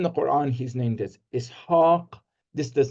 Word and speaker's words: Ishaq: is very, very close, just as that long I sound at the beginning, Ishaq.